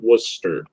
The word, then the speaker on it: Worcester: Actually, it's Wus, like WUSSTUR is how you say it, Worcester.